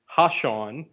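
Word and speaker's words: Ha'Sean: Yeah, all that's coming up for that is how to pronounce Sean. Speaking of Sean, haha's real first name is Hashawn.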